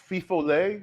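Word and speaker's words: Fifolet: the spiced flavored rum is it fifo lay is that how you say it it is what do you what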